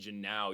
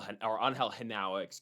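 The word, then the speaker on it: Genao: DH, and they played Janao yesterday as well. Angel Henao, excuse me, I believe that's how I pronounced that name.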